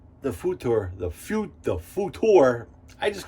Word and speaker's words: Futur: uh makuur futor or future i keep on saying i'm just going to call it the future but it is pronounced futor wow it was great